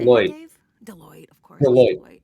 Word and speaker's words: Deloitte: Deloitte, of course. Deloitte. It's Deloitte.